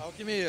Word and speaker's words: Alqmya: com a galera da banda alquimia é assim que se pronuncia alquimia exatamente que o Júlio é